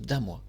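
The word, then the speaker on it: Dannemois: Alors moi je prononce Danemois, mais on prononce Damois. Mais je prononce Danemois, j'aime bien mettre un petit N, ça me donne un petit côté anglais dans la prononciation.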